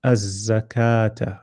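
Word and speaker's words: الزكاة: so this one you you won't pronounce the lam you go straight to the zai because there's a so you'll say as a zakata in so you join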